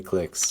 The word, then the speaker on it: cliques: I say clicks. It's one of those regional differences in pronunciation.